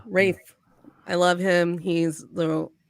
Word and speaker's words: Ralph: not going to say his name Ray fines yeah right Rafe yeah Rafe I love him he's